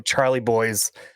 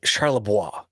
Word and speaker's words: Charlebois: she wants me to pronounce her last name, Charlie Boys. It's Charlebois, but she says Charlie Boys because that's how Grandpa used to say it. It just sounds way cooler when it's French, right?